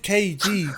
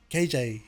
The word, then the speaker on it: Cajey: because it's about weird it said kg but it's spelt c-a-j-e-y yeah if do people even get mixed up calling you either like kj or oh over half